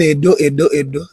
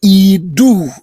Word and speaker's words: Edo: Now, the word everybody is calling Edo is a mispronunciation. The word you are calling Edo in English, the EDO is Idu. Originally IDU or IDUU, not Edo, Idu.